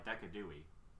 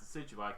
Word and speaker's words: Decidueye: Someone pronounced Decidueye Decadui. What's Decidueye? That's an owl. Yeah, true. Oh, is it the owl with the bow? Yeah. Yes. Yeah, okay. It's pronounced Decidueye because Deciduous and Deadeye.